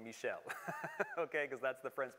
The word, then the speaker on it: Michel: in uh in french so if you want to be really smart don't call him michael call him michelle okay because that's the